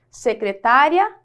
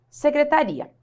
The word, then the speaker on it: secretária: duas palavras aqui ó secretária secretaria quando eu pronuncia secretária só que não pode pronunciar assim né secretaria é pronúncia normal quando eu falo Ah olha